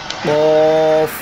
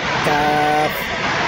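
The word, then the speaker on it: ق: লাগাইয়া কফ, মোটা করে কফ। তারপর চলুন পাঁচ নম্বর মাখরাজ। পাঁচ নম্বর মাখরাজ হচ্ছে জিহ্বার গোড়া হইতে একটু আগে বাড়াইয়া তার বরাবর উপরে তালুর সঙ্গে লাগাইয়া উচ্চারিত হয় কাফ। কাফ, শক্ত করে কাফ।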